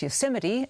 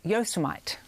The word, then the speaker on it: Yosemite: signing of a national parks bill he twice mispronounced yosemite as yosomite a former top saudi intelligence official has filed